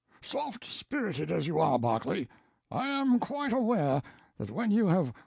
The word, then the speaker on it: Berkeley: Banks sellers vicount Berkeley of chundy Castle Warwickshire pronounced cbri Slover Marshbank sellers vicount Barkley of Chumley Castle warshire he is standing by